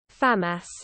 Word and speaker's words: FAMAS: I've been saying it wrong for 20 years. FAMAS. Never mind, no I'm not. FAMAS. That's correct.